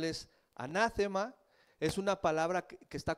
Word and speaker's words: anatema: Esta palabra del griego que se escribe y se pronuncia muy parecido como está en español es anátema.